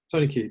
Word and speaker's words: SonarQube: Am I pronouncing it? Is it SonarQube? SonarQube, yeah.